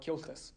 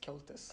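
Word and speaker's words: Comhaltas: I think it's about, like, I think it's spelled C-O-M-H-A-L-T-A-S, Kyoltas.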